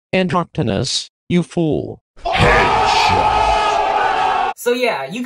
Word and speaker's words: Androctonus: It's pronounced Androctonus, you fool.